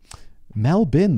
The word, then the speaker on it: Melbourne: in the pronunciation guideline a pronunciation guide for melbourne mel bin though m-e-l-b-i-n so i was even